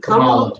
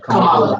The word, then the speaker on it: Kamala: Is it Kamala? Kamala.